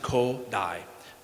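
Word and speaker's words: Kodály: Kodai, spelled Kodali. Zoltan Kodai. It's pronounced Kodai, accent there.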